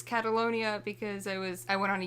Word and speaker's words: Catalonia: And oh gosh, I said Catalina, didn't I? Oh god. It's okay. A lot of people, I've been seeing it online, spelling it wrong, saying it wrong. I only know it's Catalonia because I went on